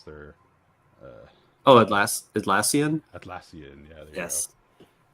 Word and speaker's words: Atlassian: So yeah, I got this graphic from Altissan. I don't even know how to pronounce their Oh, Atlassian.